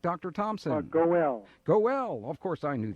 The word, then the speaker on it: Goel: I think that's how that's pronounced, G-O-E-L. Is that correct, Dr. Thompson? Goel.